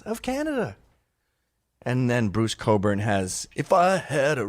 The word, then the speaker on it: Cockburn: like Bruce Springsteen again that's Bruce Cockburn Oh pronounced Coburn what you Americans don't